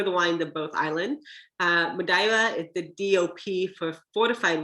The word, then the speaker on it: Madeira: some madeira madeira madaira it's actually pronounced madaira i tried to make